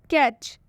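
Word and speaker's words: catch: कैच। कैच में भी last में आया हुआ है टी सी एच, इसलिए हम टी का उच्चारण कैच में नहीं करेंगे।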